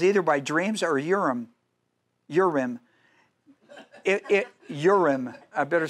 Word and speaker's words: Urim: Urim.